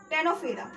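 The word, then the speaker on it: Ctenophora: तो देखो यहां पर देखो सिलेंट्रेटा में यहां पर ओ साइलेंट रहता है और टेनोफेरा में यहां पर सी साइलेंट रहता है। ठीक है? तो इसको क्या पढ़ते हैं? यहां पर ओ साइलेंट रहता है। तो सिलेंट्रेटा एंड यहां पर सी साइलेंट रहता है। तो ये टेनोफेरा होता है।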